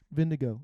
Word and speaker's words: Vingegaard: Vingegaard. Vindigo. It says, even though it's spelled guard, it's pronounced go.